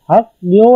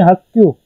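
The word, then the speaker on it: 학교: अब हक ग्यो है ये, तो इसे पढ़ेंगे हक क्यू।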